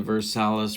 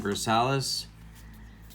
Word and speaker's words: Versalles: Ken Coleman is where I'm getting the Versalles pronunciation from, as well as Ned Martin. So if you have a problem with how I'm saying Versalles, well, you can't take it up with them,